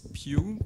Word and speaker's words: Pugh: Et ça se prononce Piu parce que c'est un nom gallois.